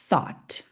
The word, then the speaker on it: thought: Três sons apenas. Viu que fácil isso. Thought.